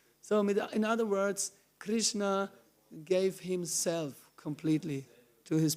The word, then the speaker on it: Krishna: pure and so powerful there are human beings who cannot say the name Krishna they cannot say if you ask say Krishna they cannot pronounce they cannot say the name because not because of their of their mother tongue like the Chinese they they cannot say they say kishna or something not because of that